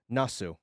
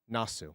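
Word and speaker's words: なす: Um, Nasu. Nasu.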